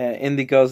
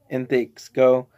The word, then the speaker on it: Indxgo: and that yeah I've been mispronouncing uh indigo's name wrong I was intakes go uh so the extra silent like Hunter Hunter and spy family so yeah that's cool